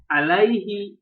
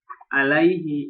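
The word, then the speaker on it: عليه: If attached to a pronoun, ala and ila are pronounced with ya. What? Here. Alaihi, ilaika.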